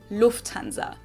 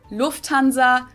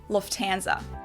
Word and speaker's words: Lufthansa: fly this morning but in german we say lufthansa so the emphasis on the first syllable lufthansa versus lufthansa at least i